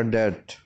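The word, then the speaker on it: debt: डेट में हम बी को नहीं पढ़ेंगे, बी साइलेंट होगा तो ये होगा डेट।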